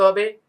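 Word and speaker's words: حاء: সবচেয়ে বেশি যত জনের উচ্চারণ আমরা যদি শুনি, বেশিরভাগ লোকদের সমস্যাটা হয় হচ্ছে হা এবং আইন, যেটা হলকের মাঝখান থেকে আসে। এই হলকের মাঝখান থেকে উচ্চারণ করতে গেলে অবশ্যই একটু গলাটাকে চাপ দিতে হয়।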